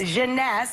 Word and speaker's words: Jeunesse: eight ageless what's the company how do you pronounce the Jeunesse Jeunesse its various makers and it's less than seventy